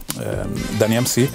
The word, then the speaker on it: DAN-E-MC: MC ci stava perché la E di Dani MC si pronuncia I in inglese, quindi Dani MC, e da lì è